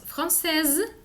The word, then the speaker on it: française: francés o en chinois, cuando escribimos la E, que nos va a marcar en el escrito el femenino, esta letra nos hace pronunciar la letra que está antes. Entonces tenemos française, chinoise. ¿Sí? Comparen, chinois, chinoise, français, française.